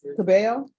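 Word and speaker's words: Cabell: and are you Miss cabel yes am I pronouncing your last name right yes thank you I'm always the double L's always throw me off Council have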